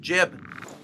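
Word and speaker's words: Jiub: Jib or Jube? No, you're right. Jib. That's the way he pronounces it in Dawnguard.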